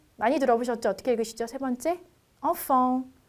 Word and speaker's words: enfant: 3번째 enfant. 자, enfant 마찬가지로 T 끝 자음이기 때문에 발음을 하지 않아요. 그래서 enfant까지만 읽어주시면 되세요.